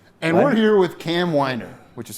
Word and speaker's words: Weiner: I've never And we're here with Cam Winer, which is how you pronounce it.